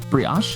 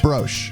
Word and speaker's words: brioche: Speaking of valuable, how did you pronounce brioche? Brioche? Brioche. Brioche. Broche.